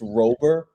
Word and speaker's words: Robert: It is Luis Robert, technically, but I guarantee people are not going to say that. Luis Robert, we'll just keep it easy here.